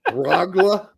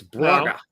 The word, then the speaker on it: Braga: What did you say, Bragla? It's Braga.